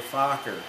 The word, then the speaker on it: Fokker: Get my pronunciation here. Yeah. It's called a Fokker.